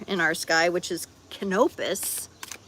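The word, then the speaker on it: Canopus: It's two times as bright as the next brightest star in our sky, which is Kenopus, like canopy Kenopus.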